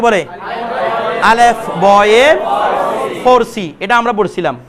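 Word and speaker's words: الف: দেখেন প্রথমে আমরা বলি আলিফ, হরফটা আছে আলিফ, যেটাকে আমরা ফার্সিতে আলেফ বলতাম, আলেফ ফার্সিতে আলেফ আর উর্দুতে আলিফ।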